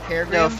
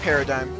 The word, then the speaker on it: paradigm: Paragraph. No, paradigm. What? Paradigm shift. Paradigm? Yep, it's always been paradigm shift. P A R A D I G M. I always pronounce it as paragraph shifts.